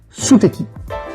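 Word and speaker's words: ステーキ: Pour le steak, les Japonais utilisent un mot empreint de l'anglais, suteki. Suteki, steaki, ah bah oui, steak, prononcé à la japonaise.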